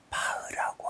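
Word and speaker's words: Bach: 여러분이 잘 아는 독일 음악가 중에서 바흐라고 하는 작곡가를 아실 겁니다. 우리말 표기로는 바흐라고 하지만 이희를 이희, 이게 대부분 우리나라 사람들이 하는 발음인데 이건 무성마 발음이 아니죠.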